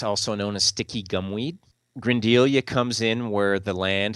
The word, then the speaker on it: Grindelia: One that really fascinated me is it Grindelia? Is that how you say it? Mm-hmm. Yeah, could you Grindelia. say, yeah, Grindelia.